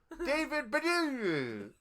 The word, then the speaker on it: David Baddiel: It's a Scottish name. David Baddiel. That's how it sounds.